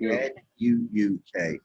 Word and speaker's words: Nuuk: Okay, I don't, it's pronounced Newark, N-U-K. Yeah. But N-U-U. N-W-K, N-U-U-K.